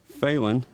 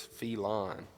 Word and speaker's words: Phelan: name was Brad and it's spelled the same way but he pronounces his feline oh see there's all